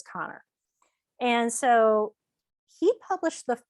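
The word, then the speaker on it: Kanner: the connor article and i kept calling him canner for the longest time i called him tanner i found out his real name's connor spelled the same way but it is connor and so he published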